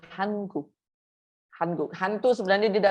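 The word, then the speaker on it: 한국: I hear some people say Hanguk. It's not Hang, it's Han. Okay, Hanguk.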